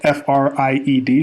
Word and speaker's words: Fried: titled Sam brackman freed this name is spelled f-r-i-e-d so it could be fried like fried fish fried food but I'm going to be going between freed and fried probably we say freed more often than not Sam Beckman freed